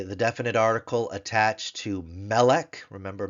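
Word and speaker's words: מֶלֶךְ: there but rather because its accent with that hash mark its accent is on the penal its tone syllable is the penal the second to last syllable on the meem Sego symbol so melik me with a Sego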